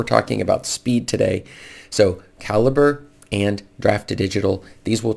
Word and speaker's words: Calibre: use a free tool like Draft Digital or Calibre. Somebody corrected me on the pronunciation of that, since most people don't talk about it too much, but Calibre.